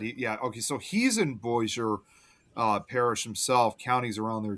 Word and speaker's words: Bossier: Actually, I think that's pronounced Bossier. Bossier, yeah, because it's supposed to be French. It's Yeah, Cajun. I think it's Bossier.